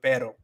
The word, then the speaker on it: pero: rolling your R, but you don't want to roll your R with with pero, because it's not supposed to be a rolling sound.